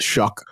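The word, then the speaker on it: Shough: Um, so I got Jackson Dart in tier 2, Tyler Shuck, which if you have seen it spelled S H O U G H, it is pronounced Shuck.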